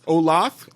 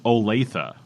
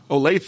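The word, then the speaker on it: Olathe: l a t h e how would you pronounce that Olive I thought it was Olaf Olaf yeah but it was OA OA that was my eighth Guess yeah and I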